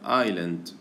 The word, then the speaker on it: Island: اسمه Ghost Island Junction، هذه تلفظ Island، Island يعني بدون الأس، الأس ما يلفظ Island، Ghost Island يعني كأنه تقاطعات ذو مخططات شبحية وجزرة، وجزيرة أو جزرة.